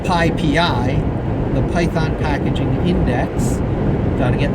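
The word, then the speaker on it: PyPI: writes the upper of the requests Python package pi PI or actually it's pronounced pi PI the Python packaging index pronunciation right which is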